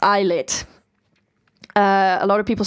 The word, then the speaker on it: ILLIT: have magnetic by eyelet yes and it is pronounced eyelet uh a lot of people say illit it's pronounced IET I can actually read hungo